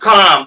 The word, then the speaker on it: qualm: With काम, with QUALM, इसमें L silent है, तो बोलेंगे विथ काम, उत्सुकता से, जिज्ञासा से उसने अपने बच्चे को जगाया।